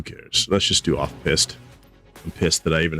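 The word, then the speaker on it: piste: P i s t e. Is that our word of the day? Pissed. Pronounced pissed.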